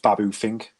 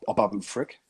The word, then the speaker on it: Babu Frick: And is it Babu Fink or Babu Frick? Babu Frick, I think it is, Babu isn't it? Frick. There we go. I've been Yeah. pronouncing it wrong the whole episode.